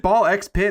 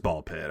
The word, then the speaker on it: Ball x Pit: __ ] So it seems like is it ball x pit or is it just ball pit? It's just ball pit. So, you don't pronounce the the X.